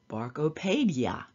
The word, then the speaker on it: BARKOPAEDIA: Well, you can be a snob about it and pronounce it like Ted Mosby as BARKOPAEDIA.